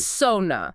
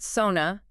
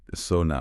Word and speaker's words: sauna: It's sauna, like so that rhymes with how. Not sauna, not sauna. Right, sauna.